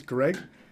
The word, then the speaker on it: Gregg: gentleman pleasure to meet you my name is Greg that's correct with three g's but it's just pronounced great oh let's out better meet you